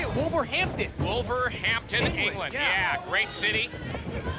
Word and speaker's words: Wolverhampton: for just about eight years got together in wolverton hampton how do you say it wolverhampton wolverhampton england yeah great city uh been there